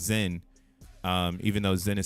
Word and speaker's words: XEN: In the Zen world, uh like you'll see XEN, but it's pronounced Zen.